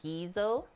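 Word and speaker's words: guiso: stuff for assembling afterwards the U is silent so you just say gizo gizo we're learning today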